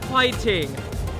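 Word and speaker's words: 화이팅: Hwaiting is, I believe it means fighting, but hwaiting. Don't ask me why they pronounce it as hwaiting but in Korea they're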